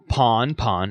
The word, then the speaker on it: pan-pan: right so that is a typical pond pawn again it's spelled out pan pan-pan alert from the u.s coast